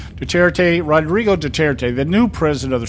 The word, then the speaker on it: Duterte: I got to pronounce his name right. Rodrigo Duterte, the new president of the Philippines, was sworn